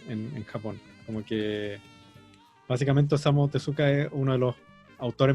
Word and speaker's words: Osamu Tezuka: La pronunciación como japonesa no se pronuncia la U. Sería Sería como Osamu Tezuka. Así Osamu es, Tezuka.